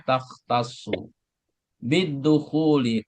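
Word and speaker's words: تختص بالدخول: Perhatikan taktasu. Nah, ini cara bacanya taktasu bidukhuli.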